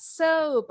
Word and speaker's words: soap: Lengkapin bacanya. Don't drink it. Don't drink it. It's soap. Yes, it's soap.